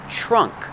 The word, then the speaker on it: trunk: trunk trunk that's right make the tr sound with a ch trunk this is the trunk